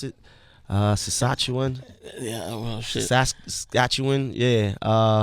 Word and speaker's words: Saskatchewan: Vancouver, Montreal, how you pronounce it? Saskatchewan.